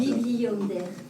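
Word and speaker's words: Bibliander: Bonder, ça s'écrit comment ?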